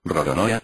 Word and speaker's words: Roronoa: un juego de palabras Los japoneses les cuesta pronunciar la letra l pues no se encuentra en Su vocabulario habitual y la susen por una r entonces para ellos Esto suena rorona de ahí su apellido